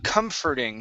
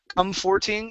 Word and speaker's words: comforting: the word um uh comforting now the o r here in the middle of this world is actually an e r sound instead of come forthing it's comfort comforting comforting one more time comforting